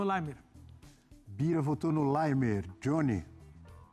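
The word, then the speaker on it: Laimer: Qual é a pronúncia certa? Limer. É austríaco, não é austríaco. Então é limer.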